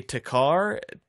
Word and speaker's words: Thakkar: Takkar. The H is silent.